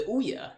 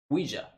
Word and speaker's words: Ouija: Because I don't know how to pronounce things. We're going to say the Ouya. No. Speaking of terrible failed mistakes, Oh yeah. Ooh-ha, that's not right. Come on. Here, how about ooh-ha? Pronunciation. Ouija.